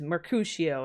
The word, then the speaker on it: Mercutio: It is Mercutio. It's like a sh.